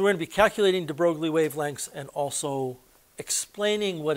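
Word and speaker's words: de Broglie: is called the de brogly wavelength sometimes it's pronounced de brely I'm told that it's actually pronounced de brogly it doesn't really matter we're going to be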